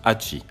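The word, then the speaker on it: 八: au qu'angie qui représente le chiffre 8 qui se prononce hachey et c'est ainsi qu'il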